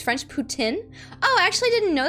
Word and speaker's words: poutine: as a canadian i have to educate it's pronounced tin as because it's french putin oh i actually didn't know that jimmy habanero thank you so much for the education because i've been calling it poutine like an american this whole time nobody's corrected